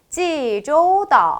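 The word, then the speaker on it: 济州岛: 돼요 중국어로 말씀하실 건데요 제주도가 중국어로 지조도 뭐라고요 지조도 한번 더요 지조도 그죠 부산은 부산 아니라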